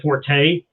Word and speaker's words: forte: because it's right well forte is a french word yeah and you would pronounce the e yeah so yeah but